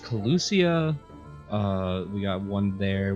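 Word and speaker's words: Kholusia: safe travels to you all so yeah it's pronounced collucia uh we got one there one i'm wrong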